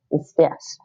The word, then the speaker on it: здесь: See, there's that z and d consonant. So in English, you say, it might be tricky for English speakers. So you say z, d, здесь.